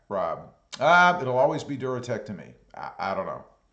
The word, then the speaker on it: DuraTrac: Thunder Whisper says it's pronounced Duratrack, Rob. It'll always be Duratec to me.